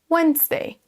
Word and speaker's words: Wednesday: Le D, en fait, on ne le prononce pas, il est silencieux. Wednesday.